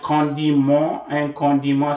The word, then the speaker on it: condiment: using this word, and condiment spelled the same way as in English, right? But pronounce condiment, mon. You know the M-N-M-E-N-T is mon, mon. Con, nasalize it, D, and then mon, nasal vowel.